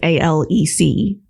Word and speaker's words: Alex: but his name was a-l-e-c well sure that's how it's how you say it yeah or spell it but his is spelled Alex but it's pronounced Alec it's weird it is